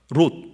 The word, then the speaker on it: 롯: 된다 이거예요 아브라함의 조카 롯 여기는 로드 입니다 발음을 주의해야 해요 롯은 어떠 초 수동